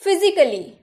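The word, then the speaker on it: physically: आ का होता है, तो इसे क्या हम फिजिकली बोले? नहीं ना, फिजिकली बोलेंगे तो नहीं चलेगा, इसीलिए ए हम लोग का चुप रहता है। हम बोलते हैं फिजिकली, फिजिकली, क्रिटिकली, क्रिटिकली नहीं,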